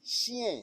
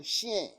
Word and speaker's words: chien: Le chien. Le chien. C-H-I. Ch. Le chien, le chat, le hamster, le lapin, le lapin, le lapin, le lapin, le poisson rouge.